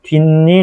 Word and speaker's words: 뒷일: 이 발음이 어떻게 되죠? 그렇죠. 뒷일 이렇게 발음되고 얘는 나뭇잎 이런 식으로 발음이 되죠, 여러분.